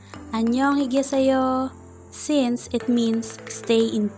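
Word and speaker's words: 안녕하세요: when korean people say annyeonghaseyo or anyone they do not always pronounce every single letter clearly they do not pronounce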